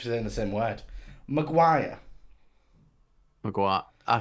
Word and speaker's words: Maguire: on and the hot uh why did you pronounce it like that by the way what McGuire what do I emphasize to you McGuire how do you say it Maguire well which was in the same word Maguire Maguire I said Maguire you said Maguire screaming